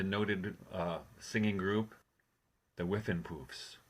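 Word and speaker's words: Whiffenpoofs: were in the noted uh singing group the whiffin poofs correct you pronounced it perfectly yes and then and that's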